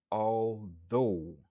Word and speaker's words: although: Prononciation c'est although. Li genyen 2 syllabes. Stress syllable lan li sou deuxième syllabe lan.